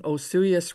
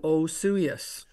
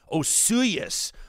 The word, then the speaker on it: Osoyoos: to tell you that you're pronouncing Osoyoos wrong. Oh. So that's my first lesson. And the easy way to remember is the mayor's name is Sue. So you say Osoyoos. Osoyoos.